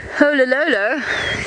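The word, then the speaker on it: Oloololo: Olololo, the Olololo mountain range.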